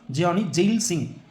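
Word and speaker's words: Giani Zail Singh: கியானி இல்லை ஜியானி எப்படின்னா ப்ரொனவுன்ஸ் பண்ணலாம். ஜியானி ஜெயில் சிங்.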